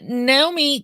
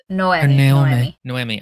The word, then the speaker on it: Noemi: And Naomi kind of Noemi. I don't know why I pronounce it the other way. Noemi falls into that archetype somewhat.